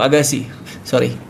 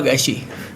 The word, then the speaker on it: Agassi: Oh, saya Agasi, maaf— saya Agashi. Ag--ashi. Dengan a. Dengan "dia" (perempuan). Dengan "dia," sayang. Oh, begitu, nama saya memang harus diucapkan seperti itu. Ag- ya, ag-ashi seperti itu. Apa yang kamu tanyakan tadi?